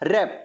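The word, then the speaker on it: wrap: लिखा व्रैप है पर पढ़ा व्रैप नहीं जाएगा, क्या जाएगा, रैप।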